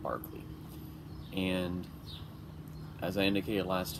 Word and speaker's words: Berkeley: Alright, so today we turn to Berkeley, spelled like Berkeley, but it's pronounced Barkley.